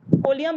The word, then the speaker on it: ओलियम: ओलियम बच्चे, ओलियम बोलते हैं इसको, H2S2O7। अभी तुम मेन एलिमेंट पढ़ोगे तब बताऊंगी मैं। Spelling H2S2O7 OLEUM ओलियम।